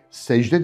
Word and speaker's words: secde: İşte secde de bunlardan bir tanesidir. Ben C olarak okumuyorum, J'ye dönen, hatta neredeyse J sesini çıkartarak telaffuz ediyorum.